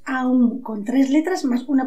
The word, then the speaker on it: Aum: La mística sílaba la pronunciamos Om, pero en realidad es Aum, con tres letras más una posterior que llamaremos silencio.